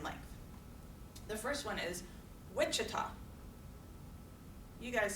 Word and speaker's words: Wichita: So where's Wichita? Wichita. First syllable.